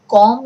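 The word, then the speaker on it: comb: कॉम your hair, कॉम, B silent है यहाँ पे, कॉम कंघी करना, बालों में आप कंघी करते हो।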